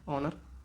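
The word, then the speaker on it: honour: ऑनर ऑनर होता है। तो यहां पे अभी हम एन का यूज़ करते हैं। यहां पे एयर होता है। तो यहां पे भी हम एन का यूज़ करते हैं क्योंकि साइलेंट होता है यहां पे।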